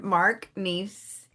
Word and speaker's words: Neace: My new friend, Mark Neace.